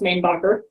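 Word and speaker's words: Mainbocher: Some people insist that it is pronounced Mainbacher, or more French, but it is actually pronounced Mainbacher.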